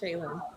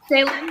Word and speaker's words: Chayelynn: Tonight, we're talking with is it Shayen Moore? Is am I pronouncing that right? Yes. Shayen. Shayen Moore.